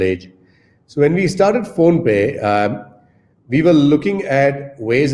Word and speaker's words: PhonePe: It's PhonePe, phonetically sounds like there's payments involved.